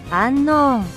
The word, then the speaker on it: Unown: So now let's talk about the mysterious Unown, whose Japanese name is the same as its English one. They just say it like this. Unknown.